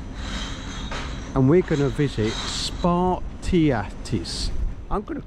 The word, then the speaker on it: Spartiatis: By the way, we're calling it Spartacus restaurant. How do you pronounce it, Rob? Spartiatis.